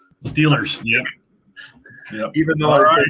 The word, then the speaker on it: Steelers: He spelled it correctly, Stillers. That's how you pronounce it down there, Stillers. Steelers, yep.